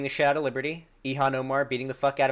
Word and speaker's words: Ilhan: It's pronounced Ilhan? I thought it was Eon. Ehan. Oh, it's Ilhan. Okay.